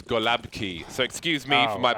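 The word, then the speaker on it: gołąbki: message me and say what the f is galapa key because it's golabki so excuse me for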